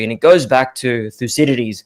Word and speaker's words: Thucydides: it goes back to thucydides or uh thuheri's as they pronounce it in greek and he said it